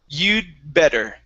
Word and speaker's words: you'd better: late okay now uh the key or the trick here is to not finish the d sound okay so we don't want to say de you'd the better okay it's you you'd better so from that d it's like the d and the b are right together you'd better try that